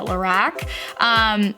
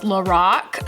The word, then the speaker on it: Lorac: I've always pronounced it Lorac. So apparently I've pronounced it wrong this whole time. So in my last few videos where I've done reviews on different products, yeah, I've said it wrong, so I apologize. I now realize it's Lorac, so shame on me.